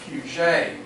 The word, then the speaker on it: Puget Sound: And I was going to mention, I'm sure Puget Sound was named after a French fella, and it should probably be pronounced Puget. Exactly. Exactly, right? But we anglicize words and names.